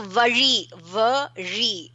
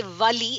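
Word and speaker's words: வழி: And very few people know to pronounce R. So vari is way, pathway. Okay. If you don't say R and say L, because many people don't get R, and they say Vali, it's pain.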